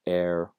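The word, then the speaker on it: herb: these examples here right so err when it was originally borrowed was not spelled with an H and course that H is not pronounced but they realized that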